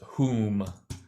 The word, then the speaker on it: Hum: Om Ah, and it's spelled hum, but the pronunciation is hum.